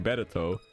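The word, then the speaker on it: ベレト: and one more thing mill violet and fimo violet have slightly different names in japanese milbileth being better and femobileth being betesu they even wrote their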